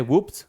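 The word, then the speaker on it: whoops: अगला है वुप्स, देखिए यहां पर भी जो शब्द है हमारा WHO से स्टार्ट हो रहा है, फिर भी हम W को प्रोनाउंस करेंगे।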